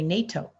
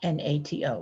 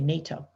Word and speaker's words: NATO: nato unlike an initialism we pronounce these four letters as a new word we say nato not nato we say nato in english the letters